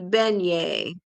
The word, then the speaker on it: beignet: And Timothy says it's it's pronounced beignet.